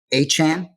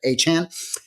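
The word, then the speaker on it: Achane: Duvon Achan, that's how he wants us to pronounce it. Did I get it? Achan.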